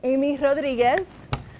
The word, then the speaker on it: Aime Rodriguez: all right so um Amy Rodriguez that's how I kind of say my name on camera I do it purposely